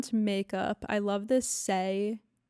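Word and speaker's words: Saie: makeup I love this say is how you pronounce it say s-a-i-e I don't know but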